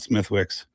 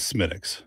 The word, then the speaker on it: Smithwick's: It's not Smithwick's. This is Smithwick's. Smithwick's. So the H is silence. You pronounce it Smithwick's or maybe even Schmidt's. Schmidt's. But you would not pronounce it Smithwick's. That will be clearly you don't know what you're talking about if you're calling it Smithwick's.